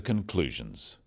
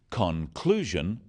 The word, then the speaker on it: conclusion: The wrong stress makes it hard to understand. So, conclusion, not conclusion. Products, not products.